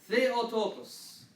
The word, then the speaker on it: Theotokos: This letter is always a TH. It's always a TH. Okay? Very common word that we see, and every other letter here you recognize. Theotokos, the birth giver of God.